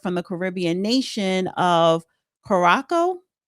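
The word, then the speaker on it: Curaçao: JetBlue flight 1112 Airbus A320 in route to New York from the Caribbean nation of Koraco. C U R A C A O Korac Korac Ko whatever was roughly 20 minutes into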